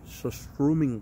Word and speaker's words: surströmming: Some surströmming surströ- How do you say it?